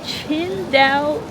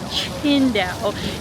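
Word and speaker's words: Tsingtao: Even though if you just look at how it's spelled, it's sing, right? Like this is the most common beer that we have, you know, in North America that's from China, but it's actually pronounced Chinda.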